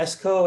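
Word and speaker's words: Eskoh: that stands for yeah esko it's uh play off my name sean cove so phonetically you know xco is my first initial and my last name but um i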